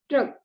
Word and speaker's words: ट्रक: तो जब हम ट्रक बोलते हैं तो टा के और रा के बीच में आ नहीं सुनाई देता।